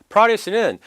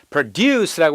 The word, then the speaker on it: produce: produce는 produce라고 해서 뒤에 액센트를 끌고 가면은 생산하다, 앞에 액센트를 끌고 가서 produce라고 하면은 농산물이 됩니다.